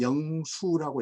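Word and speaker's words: 靈壽: 허베이성의 성도, 시자장 이렇게 이제 중국 발음으로 부르는 지역인데, 이 석가장의 북쪽, 여기가 지금 이제 이 한자는 우리식으로 발음하면 영수라고 읽어야 돼요.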